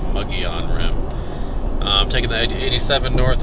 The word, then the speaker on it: Mogollon Rim: I used to pronounce it Mogollon, but I have since learned that it's pronounced Mogollon Rim.